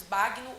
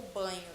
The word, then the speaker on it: Bagno: que se chama Marcos Bagno ou Banho, tá? Ele mesmo fala que pode falar Bagno ou Banho porque é de origem alemã.